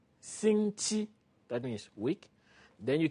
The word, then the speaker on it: 星期: 星期, that's all. When you know how to say 星期, 星期, that means week, then you can pronounce from Monday to Saturday to Sunday without any new word.